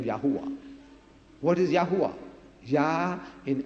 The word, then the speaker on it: Yahweh: get the J from jovah where did you get the J from J is another consonant at the vowels it become Yahweh what is yahwa yah